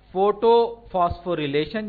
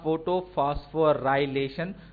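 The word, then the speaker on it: photophosphorylation: کو ہم کہتے ہیں فوٹو فاسفوریلیشن یا فوٹو فاسفورائلیشن، جو تلفظ آپ کو سمجھ میں آئے، آپ کو اچھا لگے آپ کیجیے۔ یہ فوٹو فاسفوریلیشن ویسے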